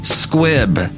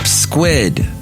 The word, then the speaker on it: squib: they mentioned there's like a British one called a a damp squib right and the guy said damp squid I guess that's the